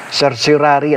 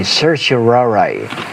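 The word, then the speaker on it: certiorari: Sir Surari ang tawag diyan ng isang ordinaryong ah tao pero sa aming nasa legal profession ang pronunciation namin diyan ay Sir Shiraray no.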